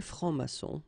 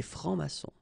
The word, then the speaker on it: francs-maçons: S here and S here. Des francs-maçons. And then you don't pronounce them. Des francs-maçons.